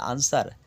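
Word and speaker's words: answer: নেই রং মানে ভুল এন এস ডব্লিউ এর আনসার ডব্লিউ এর উচ্চারণ এখানে নেই অর্থাৎ সাইলেন্ট আছে আনসার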